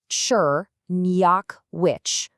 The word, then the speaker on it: Czerniachowicz: It's pronounced Czerniachowicz. Let's break it down. So you've got Cher, like in cherry, then Nye, like the Nye in Kenya.